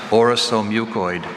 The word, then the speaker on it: orosomucoid: That second syllable, the second vowel sound, is a schwa.